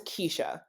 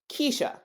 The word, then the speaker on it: Keshia: pronunciation of my name my first name is Kesha it's spelled k s i a six letters that's it Kesha I love my name and I'm proud of